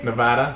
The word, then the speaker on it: Nevada: in Colorado thank you for saying it correctly Nevada Nevada perfect Nevada Colorado um uh Florida sweet